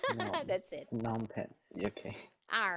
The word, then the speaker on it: Phnom Penh: So, Mm, so I just go with an H, num pen. no, That's it. Phnom Penh.